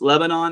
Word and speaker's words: Lebanon: Yes, Lebanon. That's how it's pronounced.